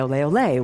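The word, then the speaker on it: Olé: custom with them and the pronunciation changed over the centuries from Allah Allah Allah to LA Olleh Olleh which you still hear in bull fights and in flamenco dances in Spain when a performer has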